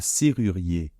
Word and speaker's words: serrurier: serrurier d'accord un serrurier alors quels sont les problèmes dans ce mot en fait les problèmes c'est encore une fois ce r d'accord donc faites attention le r essayez de le prononcer ici et ensuite on a à nouveau ce u ce fameux u d'accord donc je vous répète un petit peu comme le son ou comme dans BO en anglais hein pas aussi long